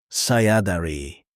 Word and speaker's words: Saya dari: Let's expand your introduction to say where you're from Saya dari pronounced Sah ya da ri This means I am from.